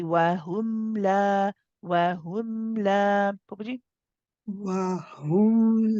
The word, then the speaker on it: وَهُمْ: Now wahum, be careful of the dhamma. Everyone at home, this is again a very common mistake to say wahu, right? To pronounce it as a ho and not a hu. So be careful. You want to make sure you round the lips and say wahum.